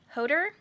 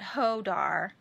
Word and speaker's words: Hodder: A lot of the Hodder. Oh man, some guy told me how to say it and I'm saying it wrong again. It's not Hodar. Hodder. I think it's Hodder.